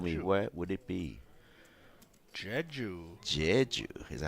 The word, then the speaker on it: Jeju: Jeju.